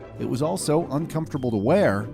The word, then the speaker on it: Wii: unique at the time the Wii is pronounced as we which emphasized the console